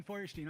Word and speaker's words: Feuerstein: Hi, I'm Steven Feuerstein.